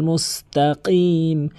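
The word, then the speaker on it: مُسْتَقِيم: ইহদিনাস সিরাতাল মুস্তাকিম, মুস্তাকিম, এখানে অধিকাংশ লোক মুস্তাকিম বলে, মানে কফের উচ্চারণকে কাফের উচ্চারণ করে ফেলে। এখানে কাফের উচ্চারণ করা যাবে না, কফের উচ্চারণ জিহ্বার গোড়া থেকে উপরে তালুর সঙ্গে লাগিয়ে কফের উচ্চারণ করতে হবে, মুস্তাকিম।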